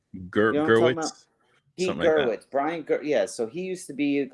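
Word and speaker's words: Gewirtz: Gerwitz.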